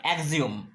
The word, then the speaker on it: axiom: এইবার যে কথাটা আছে সেটা হচ্ছে অ্যাক্সিওম, AXIOM, আমরা অনেকে বলি অ্যাক্সিওম, মূলত উচ্চারণ হয় অ্যাক্সিওম।